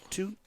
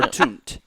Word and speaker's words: Toont: Toot or toont? Toont. With Toont. How do you spell it? T-O-O-N-T? T-O-O-N-T, yeah.